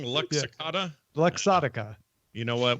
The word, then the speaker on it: Luxottica: Luxottica?